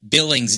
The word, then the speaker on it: Billings: Yeah, that's what I always mispronounce. Yeah. Billings, Montana. You have trouble with that. Billings.